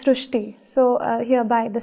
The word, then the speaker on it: Shrushti: So in Marathi, the word Ri is pronounced as Ru. So that is why the pronunciation goes Shrushti.